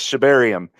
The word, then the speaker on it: Shibarium: I know how to pronounce it. It might be a Texas thing now. I don't know what it is, but for the record, I know it's Shibarium.